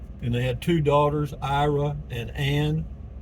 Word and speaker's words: Iraan: And they had two daughters, Ira and Ann. And that's where the name of the town came from, Iraan. But it's pronounced Iran or Iran or something on Google.